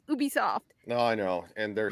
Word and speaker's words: Ubisoft: I don't get it because it just should be pronounced Ubisoft.